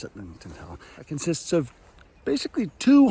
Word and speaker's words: Sitlington Hill: Sitlington Hill, which I always want to mispronounce as Stiltington Hill, but it's not. It's Sitlington Hill.